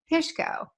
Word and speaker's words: Pishko: I have with me today Jeff and Jacob Pishko and hopefully I pronounced that correctly right that's perfect anyway you